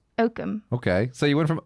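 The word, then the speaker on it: Oakham: from a small town called oatham can you spell that o-a-k-h-a-m okam okum okay so you went from okum yep to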